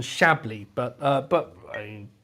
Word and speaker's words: Chablis: I didn't realise this, but the emphasis on the last part of Chablis, not on Chablis, but I mean, pronounce how you like.